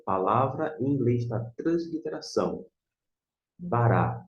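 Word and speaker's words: ברא: Bará é a forma que você vai transliterar e, da mesma forma, pronunciar.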